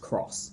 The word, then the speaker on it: cross: It is something where the case it's an X and so you would you might look at it and read it as being an X but it's actually meant to be pronounced cross, right?